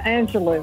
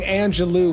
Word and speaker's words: Angelou: celebrity is Maya Angelo I didn't even say it right Maya Angelo I've been saying Angelou my whole life and it's actually Angelo love you I love you back